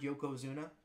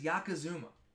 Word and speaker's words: Yokozuna: Can we at least go back and watch Virgil, unable to pronounce the word Yokozuna? Sure. He says Yakazuma.